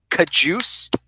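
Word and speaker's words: Cajuste: Yodny Kajus. Bravo. Like caboose, but Kajus? Kajus.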